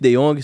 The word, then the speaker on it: De Jong: De Jongs aí. 3, Tá vendo? O nome é Teve. diferenciado. Mas pronuncia De Jong.